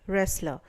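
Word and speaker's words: wrestler: यहां पर ध्यान दीजिए कि यह जो वर्ड है रेसलर तो यहां पर डब्ल्यू है लेकिन इसकी जो आवाज है वह सुनाई नहीं देती है।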